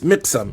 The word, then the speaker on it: Miqsam: So I wanted to get that because I was unsure of how to pronounce his name, but his name is Miqsam. And then I could have just looked at the print and saw that they wrote a kesra there.